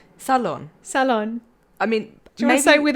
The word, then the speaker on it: Ceylon: i thought it was sale on t it's spelled c-e-y-l-o-n and i literally thought it was silent t but a salon as in pronounce it as s-u-h-l-o-n salon i am sorry if